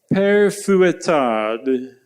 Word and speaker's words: Père Fouettard: Père Fouettard. That last d that really finishes it off nicely.